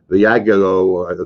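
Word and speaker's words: Viagogo: Viago, that's how you pronounce it, led by the original StubHub founder, Eric Baker, acquired the company for $4.05 billion.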